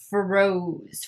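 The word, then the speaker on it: Frosé: highlighter palette which is froze froze froze right has the accent on the e ugh guys i'm terrible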